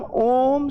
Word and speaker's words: ओम: जब हम ओम शब्द का उच्चारण करते हैं तो बीच की ध्वनि को हम लंबा क्यों खींचते हैं?